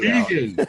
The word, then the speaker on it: Regan: Well, she's very insistent that you pronounce our last name correctly. Regan. Not Reagan.